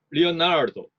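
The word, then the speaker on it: Leonardo: 약강약으로 하면 리오나르도, 강약강으로 하면 레오나르도 이런 식으로 하는 수밖에 없죠. 리오나르도가 훨씬 더 부드럽고 듣기가 좋죠. 그래서 그런 식으로 발음을 해줍니다.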